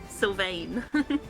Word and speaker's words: Sylvain: I know I'm going to pronounce it wrong, so I do apologize, but Sylvain, Dragonborn. That is correct. Sylvain. I'm the least vain one here, but fair enough. It's Sylvain. French.